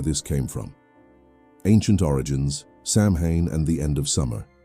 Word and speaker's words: Samhain: That ancient ritual, known as Samhain, pronounced Samhain, would eventually evolve into the celebration we know today.